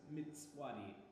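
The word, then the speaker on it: Mtsvadi: Maybe you just actually tell me how to fucking pronounce it. Hold on. Ready now. Alright, so this is Mitswadi.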